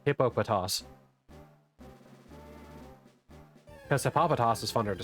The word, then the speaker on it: Hippopotas: Like I'm going to call it Hopatas even though it's correct pronunciation is uh Hippopotas cuz Hippopotas is funner